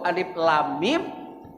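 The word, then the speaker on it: الم: Alif 1 harokat, lam 6 harokat, dengung itu idgham mimi namanya, karena ma mati ketemu ma, 4 harokat. Jadi 7 harokat ditambah 4 harokat jadi 11, ditambah mim itu man arid li sukun jadi 6 harokat, jadi jumlah totalnya 17 harokat.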